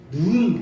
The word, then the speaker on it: 눈: 해가지고 우리가 그 내 하늘에서 내리는 눈이 길게 발음해야 돼요 누운 보라 이렇게 해야 돼요 그리고